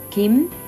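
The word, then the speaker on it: 김: namjoon now all right Kim the first letter in is good which is close to a G but when you put it in someone's last name it's like a K the second letter is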